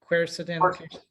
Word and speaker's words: quercetin: Quercetin.